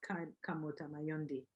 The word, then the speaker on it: Kamota Mayondi: Who is Kamota Mayondi? I hope I pronounced your name correctly.